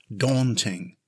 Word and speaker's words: daunting: First, notice the stress is on the first syllable. It's pronounced daunting.